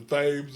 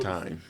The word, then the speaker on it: thyme: goddamn it, the thames or whatever. Time. Time, okay. That ain't how it's spelled, but you're right.